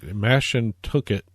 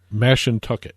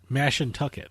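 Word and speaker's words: Mashantucket: yet agreed to it how did you pronounce that name again mash and tuck it mash in tuck it okay he said bastion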